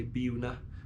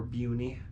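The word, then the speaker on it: Buena Vista: in buen Vista Colorado as of course the locals say bua or Bui but I'm I'm saying buav Vista because it's such a lovely word John Keegan playing on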